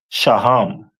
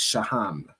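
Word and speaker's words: שֹׁהַם: And then we move over to the stone that represent them is a onyx which is pronounced in the Hebrew as shaham most high Christ.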